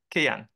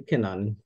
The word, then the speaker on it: Kinan: Go ahead, Kayan. Kayan. Or Kainan, did I pronounce it? Good afternoon, everyone. It's actually Kinan.